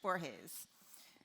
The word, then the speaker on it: Borges: Yes, Borges.